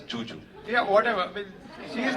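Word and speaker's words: Zhu Zhu: So it's written as Zuzu, but she pronounces it as Juju.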